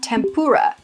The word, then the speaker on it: tempura: at in English is tempura. Tempura. This is another word that has adopted a kind of weird pronunciation in English. Tempura, with a pur emphasis there, comes from the Japanese tempura. Tempura.